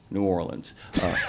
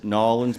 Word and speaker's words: New Orleans: There's three ways to say it. You can say New Orleans if you're from Ohio, totally acceptable. You can say New Orleans if you're from Uptown, or you can say it like the rest of us, New Orleans. Nobody says Nolans, by the way, except people who've had one too many drinks, by the way.